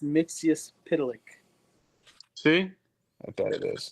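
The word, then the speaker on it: Mxyzptlk: It's pronounced Mixius Pitalik.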